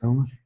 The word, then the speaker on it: Domen: Is that the way that we pronounce it, Domen?